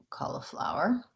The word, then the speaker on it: cauliflower: another vegetable cauliflower um cauliflower so flour first of all um i have a video a recent video talking about how this flower and this flower have the same pronunciation it's the au vowel flower so first of